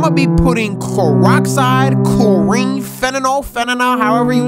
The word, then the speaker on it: fentanyl: Instead of actually giving people nutrition meals, okay, I'm gonna be putting peroxide, chlorine, fentanyl, however you say it, in their food, and they about to go bye-bye. It's pronounced fentanyl.